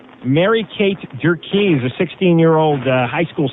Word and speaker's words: Durkee: Ann, how do you say Durkee or Durkee?